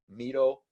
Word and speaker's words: Miro: group member, and hopefully a soon-to-be fast friend, Miro. And I think we spent like 3 minutes trying to get the name right. Miro, welcome to the show.